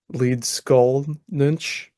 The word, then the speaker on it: Leedskalnin: hron and it is the mystery of Ed lead skull nych the laan pronunciation of his name and uh we're going